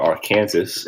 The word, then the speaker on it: Arkansas: And you come across halfway through the state that would be Arkansas or Arkansas, if you want to pronounce it correctly.